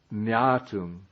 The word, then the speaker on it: ñātuṃ: No, it should be with the ung sound. It's ung, like ung. Right. Okay, the question, how from janati you get jnatum?